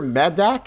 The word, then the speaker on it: Medak: go into the details, Peter Is it Peter Medak? Is that how you pronounce it? Medak? Yes, Medak.